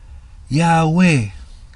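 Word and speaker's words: Ιαουε: y clemente de alejandría aún más exactamente pronuncia yagüe si miran ahí iota alpha omicron la omicron esa o ahí hay una o un sí y cuando hay un diptongo en la 1 se pronuncia entonces el sonido de estos pregúntele a cualquier maestro en griego ahí dice yagüe yagüe y la otra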